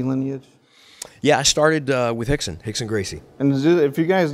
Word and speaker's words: Rickson: I didn't even know who Hickson was or that you pronounced it Hickson.